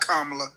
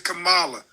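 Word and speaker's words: Kamala: Hey, please pronounce Camala's name right. She's not black. It's not Kamla. It's Camala. She's Indian.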